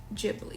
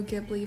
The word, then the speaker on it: Ghibli: And when you look at clips of Haya Miyazaki himself saying Studio Ghibli, he says it like that, like Gigi. Ghibli, Studio Ghibli. And so I don't like if you pronounce it Studio Giblly, fine. That's your prerogative, whatever. But when people say that I'm saying it wrong, I think I